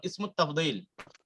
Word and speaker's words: اسم التفضيل: এখন ইসমুত তাফদীল, দুই প্রকার ইসম আমাদের শেখা হয়ে গেছে।